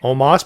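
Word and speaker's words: Omos: pronunciation at the very least that's his name omas but it's spelled o-o-m-o-s i know it's by the way but they're pronouncing it pretty consistently as omas no you you all got it wrong i'm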